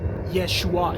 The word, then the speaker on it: Yeshua: Yeshua. It sounds like that. Like, yes, you are.